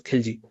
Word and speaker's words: Khalji: Basically, it is a tribe called Khalji, but we also pronounce it as Khilji.